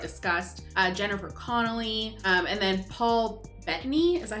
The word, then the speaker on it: Paul Bettany: Jennifer Connelly, and then Paul Bettany, is that how you say his name? Paul Bettany, yeah.